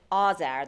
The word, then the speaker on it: Azar: She pronounces it Azar, the traditional Iranian way of saying it.